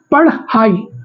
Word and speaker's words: पढ़ाई: इसमें ह का साउंड नहीं आएगा। ठीक? पढ़ हाई पढ़ हाई हाई निकल रहा है ना क्योंकि आ का